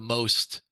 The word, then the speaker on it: most: strategy uh but the most actually it should be pronounced the MOs because that's the Czech and Slovak word for bridge is moss um but